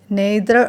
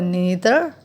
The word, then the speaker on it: neither: It can be pronounced as neither or neither.